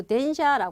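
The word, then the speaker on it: 電車: 이렇게 가는 거니까 전거가 아니라 전차라고 들어가시면 되고요 발음은 그대로 덴샤 하시면 돼요 그래서 드라마 혹시 일본 드라마 좋아하시는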